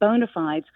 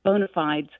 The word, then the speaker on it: bona fides: However I am going to practice saying bonafidees. So if I am forced to say it in a conversation, I will know with certainty the way I'm supposed to pronounce it. And I like the clean contemporary sound of bonafides instead of the Latin, which as you say sounds a little pretentious.